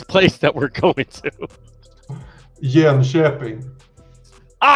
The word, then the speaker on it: Jönköping: How do you pronounce this place that we're going to? Jönköping.